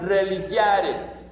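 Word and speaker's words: religare: La palabra religión viene de un verbo de latín, del idioma que utilizaban los romanos, que se pronuncia religiare, que es ligar, es decir, unir, amarrar con algo, con alguien.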